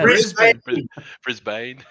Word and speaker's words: Brisbane: impressed that you can actually as an American pronounce Brisbane yeah Brisbane I I win in Rome bro I just